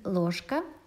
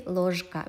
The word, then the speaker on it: ложка: In Ложка, the same story, K is voiceless, it influences Ж. That's why we cannot say Ложка, we say Ложка, it's just more convenient.